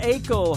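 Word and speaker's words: Aichelle: It is Alicia Akel. Her last name Akel is spelled A-I-C-H-E-L-L-E.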